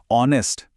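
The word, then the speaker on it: honest: ऑनेस्ट और आवर बोलते समय एच की आवाज नहीं आती। वो साइलेंट है। पहली आवाज जो निकलती है वो है ओ की जो एक वॉवेल साउंड है।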